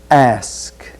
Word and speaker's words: ask: Be sure that you don't reverse the k and s. It's ask, ask.